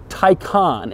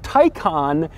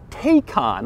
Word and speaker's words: Taycan: going to start with taikan and yes that is how you say it taikan and not taekon which is odd because